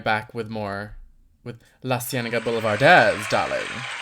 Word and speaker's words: Boulevardéz: We'll be right back with more with LaCienega Boulevardéz, darling. Accent on the Oh. E.